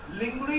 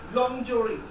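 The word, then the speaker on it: lingerie: देखो बेटा, लिंगरी इज a wrong pronunciation, लॉन्जरी कैसे बोलोगे? लॉन्जरी, लॉन्जरी is right pronunciation.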